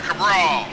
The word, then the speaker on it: Cabral: Loving the paint scheme on the number 98, Bruce Cabral. Am I pronouncing that right? Absolutely, Cabral. Cabral.